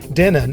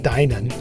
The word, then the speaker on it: Dinan: to apologize for my pronunciation during the intro Denon is actually pronounced Dinan and Opa-locka is a city in Florida we're